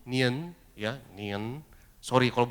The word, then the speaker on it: 年: Nian ini bacanya gimana? 年 Nian, ya, Nian.